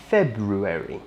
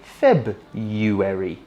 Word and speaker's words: February: So while it's technically correct to pronounce this word with the R in the middle, February, we don't actually say it that way, and we tend to drop the R in the middle and say February instead.